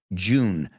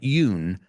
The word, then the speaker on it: June: I say them January February March April May June not Yoon June July August September in September September October